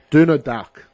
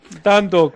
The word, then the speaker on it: Dundalk: Petersburg taking on Donald Duck. Donald Duck. Quack, quack, quack. That's in Group D. Dundalk, mate.